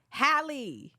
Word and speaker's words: Halle: Mel is saying Haley correctly. I don't know where you Liz keep is saying getting Haley. Halle. You don't know Halle Berry, the song? That's how you pronounce it.